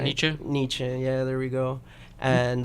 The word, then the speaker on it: Nietzsche: I don't think I pronounced his last name right. Nietzsche.